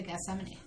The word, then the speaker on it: Gethsemane: So we're being taken to Gethsemane. Yes, that's how you pronounce it.